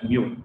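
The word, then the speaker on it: μ: It's called mu. It's a Greek letter. You pronounce it as mu.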